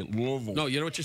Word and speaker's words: Louisville: been to Louisville yeah do you know how to say it properly you don't say it Louisville you say Louisville no you know what